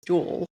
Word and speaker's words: Jules: He goes by both, but his real name is Jules, like pronounce it the French way. Jewel, would you mind just kind of talking to us about CAFO and what is it all about?